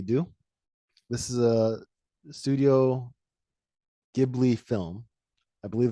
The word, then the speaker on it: Ghibli: this is a studio ghibli film i believe the japanese pronunciation is gibri it's called kiki's delivery